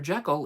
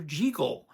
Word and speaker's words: Jekyll: Jackal. It's Dr. Jagel.